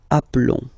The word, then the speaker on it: appelons: Okay, so here for nous and vous, so we've got only one L, like here in the infinitive form. So that's the reason why I've been pronouncing appelons.